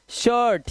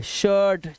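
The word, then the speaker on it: shirt: शर्ट, चिर्प, डर्टी, firm, और इन सब में आई का जो उच्चारण है वो देख रहे हो आप, ना तो ई है ना आई है, ये आवाज है अ की।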